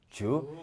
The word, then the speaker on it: 烛: 되는데 일성과 사성이 아니니까 역시 된 소리는 안 나고 주로 나는데 이성입니다. 촛불 촉 주.